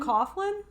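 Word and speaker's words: Coughlan: it no no i don't know how it's pronounced c-o-it's-c-o-u-g-h-l-a-n oh coughlin cop yeah irishman is that irish well i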